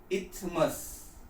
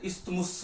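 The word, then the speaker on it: isthmus: And this part is known as इथमस. ये S silent है, नहीं तो इस्थमुस बोलते जाएंगे आप लोग, ऐसा मत करो.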